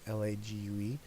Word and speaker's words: Lague: I think that's how you pronounce his last name, Lague.